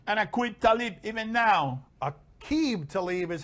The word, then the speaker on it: Aqib Talib: Aqib Talib is how we're pronouncing it, and they've got a history.